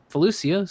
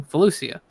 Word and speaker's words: Felucia: I've heard it both ways, and I do pronounce it both ways. So I'm like, screw it. It's said both ways in the lore. It's just gonna be what it is.